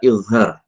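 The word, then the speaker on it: إظهار: Jadi dalam bahasa Indonesia ini saya transliterasikan dengan ZH. Bacanya tadi dha. Jadi yang pertama adalah izhar.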